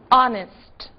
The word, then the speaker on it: honest: observadas porque justamente são casos em que o h está mas não é dito que palavras são essas our Honor e honest não disse o H em nenhuma delas certo What is